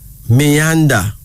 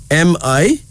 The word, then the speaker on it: Mianda: Then there is Mianda. Mianda. Myanda.